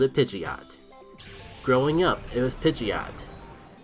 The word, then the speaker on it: Pidgeot: You go from Pidgey, Pidgeotto, and then Pidgeot.